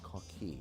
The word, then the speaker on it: Coquille: We should say, actually, before we introduce the guy beside us, Coquille, or some people may see when they see the sign Coquille, but it is pronounced Coquille.